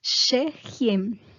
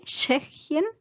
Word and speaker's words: Tschechien: Entonces, el nombre en alemán se dice Tschechien. El nombre del país, tienen que tratar de pronunciar la T, Tschechien. Y el SCH es sh, pero con la T es un poco como Tschechien.